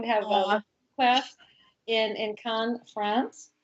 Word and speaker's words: Cannes: So, anyway, we're going to have a class in Cannes, France. Oh, I'm actually saying it right.